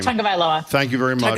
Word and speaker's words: Tagovailoa: Here is Tua, and I can never pronounce his last name. Tagovailoa. Thank you very much. Tagovailoa.